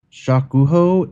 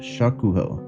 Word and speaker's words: Shokuho: Shokuho is Bannerlord after watching too much Samurai Champloo and deciding to overthrow the shogunate.